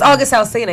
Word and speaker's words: August Alsina: He'll Alsina, is that how you say his name? Yes, August Alsina.